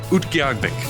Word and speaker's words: Utqiagvik: Utqiagvik.